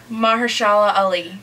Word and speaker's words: Mahershala Ali: Mahershala Ali. Ah, pretty good. Like Muhammad Ali, but not.